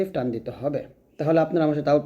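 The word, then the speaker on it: حاء: তারপরে দেখুন এই হাটা যখন আমরা উচ্চারণ করব অবশ্যই গলার মাঝখান থেকে চাপ দিয়ে চিকন করে উচ্চারণ করতে হবে।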